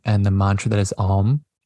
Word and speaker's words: Om: the mantra that is Om, right? Om, Om. I encourage you to practice it as 3 or 4 syllables rather than just 1 syllable.